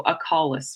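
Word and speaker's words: acaulis: common to us and au is pronounced like ah so as in crawl so a Collis what is how you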